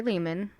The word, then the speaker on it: Lehman: With Do you, Ari Lehman. rhymes with demon.